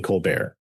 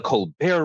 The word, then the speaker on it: Colbert: But and so successfully got his own spin-off show, The Colbert Report, which it just very, very funny that everyone immediately called it The Colbert Report, and no one had any problem with the French pronunciation.